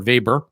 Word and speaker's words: Weber: some cranky libertarian definition this is Max Weber talking or vber if you want to pronounce it correctly and it is it's